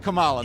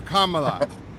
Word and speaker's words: Kamala: comma say comma comma La K LA and that's how you say it not Cala now say it again go with me again yeah say it Trump or Kamala there you go Trump